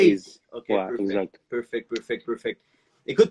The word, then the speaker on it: A'z: on prononce genre Aze, comme en anglais, genre Aze. Ace.